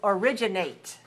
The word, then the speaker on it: originate: It's originate.